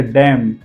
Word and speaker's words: damn: जैसे डैम, DAMN। अब पांचों स्पेलिंग ध्यान से देखिए। Column, him, ऑटम, condemn and डैम। ये पांचों स्पेलिंग में MN का कॉम्बिनेशन है, एन को हमने प्रोनाउंसिएशन नहीं किया।